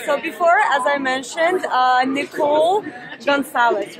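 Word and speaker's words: Nikole Goncalves: Okay, so before, as I mentioned, Nikole Goncales, right? Yes, you said it right. Nikole Goncales, nutrition plan, right?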